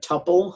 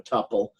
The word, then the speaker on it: tuple: make it into a tuple. Some of the things in Python are actually dealt with as tuples. Feel free to pronounce with a short-u or a long-u.